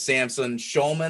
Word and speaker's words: Samson Shulman: His name is Samson Shulman. Am I pronouncing that correctly?